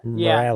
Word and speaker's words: Morales: Morales. Your pronunciation say it.